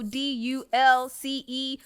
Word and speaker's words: Dulcé: case you don't know d u l c e Sloan s l o a n on IG man make sure y pronounced Dulce yeah like DL de leche ice cream is what I was